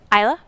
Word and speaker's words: Isla: in spirit my points isla you don't pronounce the S like isla Fisher 1 2 3 is